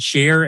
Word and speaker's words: Shaar: Like you pronounce it Shaar, S-H-A-A.